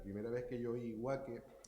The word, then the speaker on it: Waque: Yo la primera vez que oí Huaque, que tiene otras maneras de pronunciar, porque aparece como Ubaque y Bubaque, que es el término aborigen, cuando estaba en